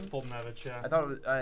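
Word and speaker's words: Foltynewicz: Fultonevich, yeah.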